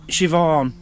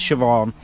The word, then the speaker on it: Siobhan: This is a gift to Dan and Mazzy from Stuart, and it's actually Siobhan. That's how you pronounce it, I believe. But it's spelt... I can't see it now. Siobnan. Siobnan. It's Irish Gaelic.